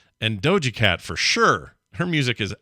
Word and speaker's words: Doja Cat: This is called TMS Mashup Doja Cat, SPT. Dojo Cat. This is an SPT, which is, or Dojo Cat. Scott pronounces things?